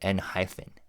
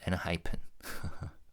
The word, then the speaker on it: ENHYPEN: And that's exactly why I uh kept mispronouncing their name like Nyphen instead of NHEN.